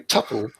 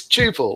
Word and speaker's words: tuple: Can everyone stop saying tuple? And it's not. It's tuple, like quadruple. Like, you sure it's not tuple like couple?